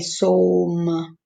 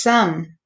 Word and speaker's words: some: I have a silent E, but this one does not say O. It doesn't say som. It says some. So this is short, but there's a silent E. So this is a rule breaker.